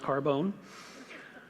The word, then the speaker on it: Carbone: name spelled CA are bo n carbon but pronounced Carbone listed 15 failures in the shroud see 14